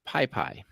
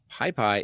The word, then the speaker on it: PyPy: And until recently, I wasn't able to use PyPy. Now, PyPy is the JIT compiled, often faster version of Python.